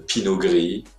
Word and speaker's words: pinot gris: muscat le pinot noir le pinot noir le pinot gris le pinot gris le sauvignon le sauvignon blanc